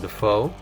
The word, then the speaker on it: Dafoe: Awesome how foe might rhyme with Defoe, as in Willem Dafoe.